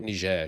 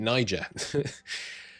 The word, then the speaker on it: Niger: in ner though um I guess I shouldn't call it ner should I because that's the French way of pronouncing it and the French haven't got control of it yet so we're going to make it Niger um but yeah we've